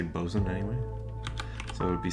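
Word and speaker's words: bosun: no that's fine bzen so this is um short for boat Swain but you always just say bosen anyway so it would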